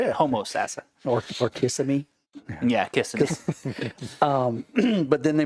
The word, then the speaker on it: Kissimmee: Or Kissimmee.